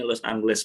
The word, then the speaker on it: Los Ángeles: Spanyolnya bacanya Los Angeles, Pak. Los Angeles. Angeles. Los Angeles. Angeles. Ada A-nya itu kan ada titiknya di atas tuh.